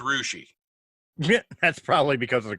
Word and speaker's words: Russia: Here in Ohio, it's Rushi.